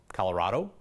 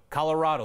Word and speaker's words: Colorado: us to settle the debate on how you pronounce the name of our state Colorado Colorado what if the right answer is something